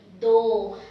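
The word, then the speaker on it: दो: It is do, dental, do, and do means number 2.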